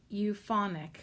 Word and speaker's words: Euphonik: es su casa, Mi Casa, comma, and then euphonic, which is spelled EUPHONIK.